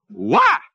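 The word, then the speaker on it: οὐαί: And the word woe in Greek is ouai. O-U-A-I. Ouai. Only I bet they pronounce it more like wah! Because it was an interjection.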